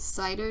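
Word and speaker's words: CIDR: the classless intradomain routing or what we pronounce it as cider notation length is a decimal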